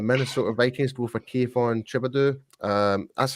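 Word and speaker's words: Thibodeaux: The Minnesota Vikings go for Kayvon Thibodeau. That's how you pronounce his name, right? Yeah, Thibodeau.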